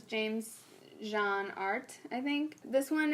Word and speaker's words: Jean: It's by an artist called, his name is James Jean, like Jean or Jean, spelled like jeans. Jean. Like blue jeans, yeah.